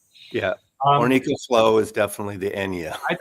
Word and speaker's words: Enja: Eddie I think Enya is the singer but the record I think label does pronounce it Enja I think doesn't it well he would probably know more than me Eddie but I'm calling it Enja yeah I think